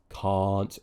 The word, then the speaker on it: can't: to make this mistake the way to avoid this make sure you're making the r sound long it's a long vowel okay ah can't already you've avoided it sounding like that word keep your tongue pushed